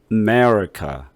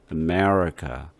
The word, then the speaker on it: America: 그래서 첫 번째 A 이거를 아라고 하지 않고 부터 시작을 해서 여기 두 번째 있는 E에다가 강조를 하는 거예요. 그러니까 보세요. America. 그리고 끄트머리도 카 이렇게 강조하지 않죠. America.